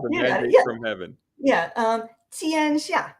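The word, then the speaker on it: 天下: And I might say, can you tell us how to properly pronounce Tiansha, a word I've used many times myself, the mandate from heaven? Yeah, 天下, right?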